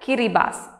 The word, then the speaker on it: Kiribati: The local language is called Gilbertese and in that language the combination of T and I is pronounced as S. So this is read as Kiribati.